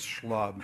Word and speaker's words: SHLB: came in and not knowing how he was pronouncing the acronym referred to it as schlub and it's stuck ever since but I also